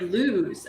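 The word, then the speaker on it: Luz: birthday and Patty's here like loose oh it's like lose okay lose oh it's not loose it's like um light in Spanish okay okay I'm glad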